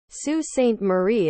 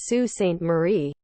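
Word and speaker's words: Sault Ste. Marie: is MAA Island but the last C is pronounced as a w Sue St Marie is Sue St Marie dequinder is D Quinter lake orian is Lake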